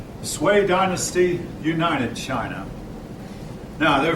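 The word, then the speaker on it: Sui: sway now this word according your book is pronounced sway sway dynasty united china now there are four dynasties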